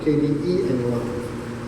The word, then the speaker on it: Kdenlive: I want to try to use that with Kdenlive, Kdenlive. It's a whole extra syllable in there that I'm not used to.